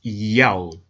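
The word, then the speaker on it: Ιαω: In order to help the reader pronounce God's name correctly, they transliterated the Most High's name with the Greek characters iota, alpha, omega, written in Greek, pronounced Yao.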